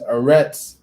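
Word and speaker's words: ארץ: and i'll explain why eretz all right the hebrew word they use within the code vowel pointing is arets play it for you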